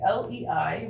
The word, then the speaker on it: Lei: Lei. Name is pronounced lay, like lay down.